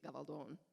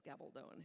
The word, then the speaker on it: Gabaldon: And were we speaking Spanish, it would be Gabaldon, which is why there's a long O in the last syllable, and it's Gabaldon in English.